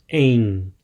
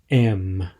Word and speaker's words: em: all about the preposition aim but before we look at how and when to use this preposition an important note on pronunciation it's pronounced Ain so very nasal sound there not M with that out of